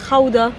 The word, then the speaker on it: Gouda: D'ailleurs le Gouda se prononce en fait Gouda.